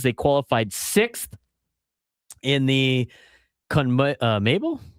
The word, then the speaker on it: CONMEBOL: They qualified 6th in the CONMEBOL?